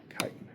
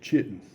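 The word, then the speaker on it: chitin: C h i t i n. Kitan. Looks like it should be pronounced chitten. That's how I pronounced it as a freshman. And I got informed I was wrong.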